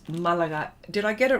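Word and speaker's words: Málaga: I'm going to get it right, because there's an accent on the A, so it's Malaga.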